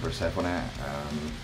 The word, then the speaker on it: Persephone: I'm from Persephone. That's how we say it. Just like that. Persephone, not Persephone or Persephone or a Greek name, a goddess name, and we always say Persephone.